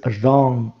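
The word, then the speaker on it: wrong: এটা ভুল this is রং this মানে এটা আর রং মানে হচ্ছে ভুল এখানে দেখো ডব্লিউ এই ডব্লিউ এর উচ্চারণ কিন্তু হচ্ছে না তাই না তাহলে কোন শব্দের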